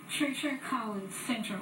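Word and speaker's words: Treacher Collins syndrome: with me now so um give me the pronunciation it's it's Treacher Treacher cin syndrome Treacher cin syndrome now I understand that it's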